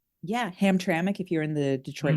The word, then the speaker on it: Hamtramck: Yeah, Hamtramck if you're in the Detroit metro area. Who knew that's how it's pronounced? Yes. Yes. I I think I called it Hamtramck for a while. Hamtramac, I don't know.